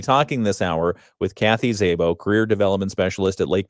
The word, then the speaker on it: Szabo: It's spelled Szabo, Szabo. Yes. Just like it sounds, Szabo.